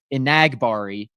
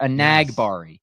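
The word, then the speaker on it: Enagbare: really to do that emphasis on the n on the second syllable there a nag Bari yeah you been the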